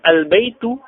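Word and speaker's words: البيتُ: Sedangkan al-baitu, baitu, tu yang tidak domatain, hanya doma saja.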